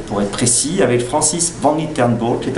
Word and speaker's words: Van Litsenborgh: en direct du 314 du premier étage, pour être précis, avec Francis Van Litternburg qui est à mes côtés. Van Litternburg, absolument Laurent, merci. C'est bien prononcé. Magnifiquement. C'est pas facile à dire.